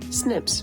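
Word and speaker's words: SNP: against non-tic alterations called single nucleotide poly aism pronounced Snips the reason for doing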